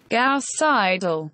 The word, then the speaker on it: Gauss-Seidel: word Google how do you say this word gauss-seidel wait let me hear that again gasp Seidel Jesus Christ Google Translate in slow motion sounds